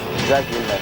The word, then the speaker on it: Villeneuve: How does he pronounce his name? Jacques Villeneuve.